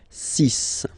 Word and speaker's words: six: And be careful here, because even if it's ending with this X, well, you'll have to pronounce it like S, okay? So you get the six pronunciation. Six, six. Okay, so it's not six, it's six, all right?